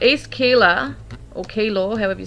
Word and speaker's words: Keilor: The first word that came to me was East Keilor or Keeler. I think it's pronounced Keeler.